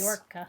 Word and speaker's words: Mallorca: Oh it's my pronounced gosh, yes. Mallorca.